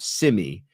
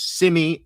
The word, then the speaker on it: Simi: So every time I see her name, I think of Simi, not Simi, but it is Simi.